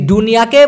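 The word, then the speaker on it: dunia: বলতে প্রায় সেম দুনিয়া এই দুনিয়াকে মালয়েশিয়ান ভাষায় বলা হয় দুনিয়া মানে দ এর জায়গায় ড উচ্চারণ করতে হবে দ এর জায়গায় ড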